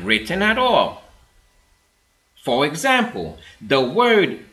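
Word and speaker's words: על: This corresponds to the letters I L in English, but instead of pronouncing it with the I sounds that are found in the words ill or island, it is pronounced with an R sound. Al.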